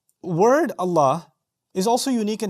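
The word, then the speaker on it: الله: But when you pronounce Allah, that same lam becomes light or heavy. It becomes heavy.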